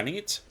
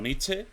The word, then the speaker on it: Nietzsche: de frederik nietzsche vale se pronuncia nietzche no nietzsche ojo y la crítica de